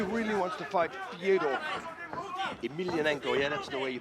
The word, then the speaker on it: Emelianenko: Yeah, he really wants to fight Fyodor Emelianenko. Yeah, that's the way you pronounce Or it.